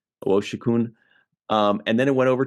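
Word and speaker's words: Owosekun: Owoshikun is how they pronounce it. Owoshikun.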